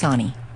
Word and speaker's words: Soonhee: Uh, my actual real name is S O O N H E, and it's pronounced Sunonnie.